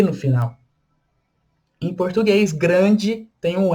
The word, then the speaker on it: grand: Em português, grande tem um E e a gente pronuncia tudo. Em francês, grand, grand com um D no final, a gente não pronuncia o D.